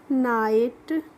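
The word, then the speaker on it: night: जीएसटी को हम पढ़ेंगे नाइट इसको हम नाइट पढ़ते हैं नेगेट नहीं पढ़ते हैं और नाइट मींस होती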